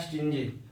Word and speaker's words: stingy: Third fourth word है स्टिंजी, STINGY। इसको स्टिंगी भी पढ़ सकते हैं, वी can pronounce it as well स्टिंगी।